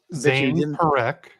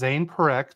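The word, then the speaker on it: Parekh: Zane Perk. What? His name is Zayn Perk. The next one if you didn't know how to say it. Zayn Perk.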